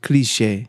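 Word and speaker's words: cliché: from like cliche France kalisch is it's it's pronounced cliche yeah I mean we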